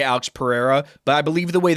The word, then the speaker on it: Pereira: It's Pereira. So there's two ways you could say it. Is the most like I'd say like American way to say it is Pereira.